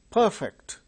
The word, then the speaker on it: perfect: Perfect, this adjective, it is perfect, that is adjective. Perfect, it is verb.